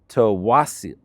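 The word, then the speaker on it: Tsawwassen: This next one is spelled funny, but I understand it's pronounced Tawasin.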